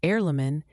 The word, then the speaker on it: Aurlumyn: Arleamin, pronounced heirlamin, is the brand name for isoprost injection.